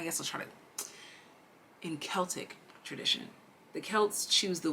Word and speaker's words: Celtic: People always pronounce this as Celtic, but I like Celtic. I'm sorry.